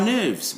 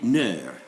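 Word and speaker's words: nerfs: Our nerves, we say nerve.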